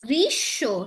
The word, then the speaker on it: গ্রীষ্ম: যে মফলার উচ্চারণ কখনো ম হিসেবে হয় না, এটা যেই বর্ণের সাথে যুক্ত থাকবে সেই বর্ণেরই ডাবল উচ্চারণ হিসেবে উচ্চারিত হয়। গ্রীষ্ম, ঠিক আছে?